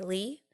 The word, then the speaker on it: Lee: but growing up, my friends always called me Lee, like L-E-E. Okay. Why not Lee, just L-Y? like Emily. Yeah. Because L-Y, it's like lie.